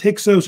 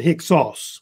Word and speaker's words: Hyksos: It's either pronounced Hyksos or Hyksos. I think Hyksos might be the more popular way they say it in Greek, which is a Greek term, they believe.